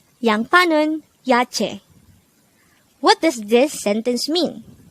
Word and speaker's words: 야채: Yache. Yache. This is pronounced as a two-syllable word. The first syllable is ya, the second syllable is che.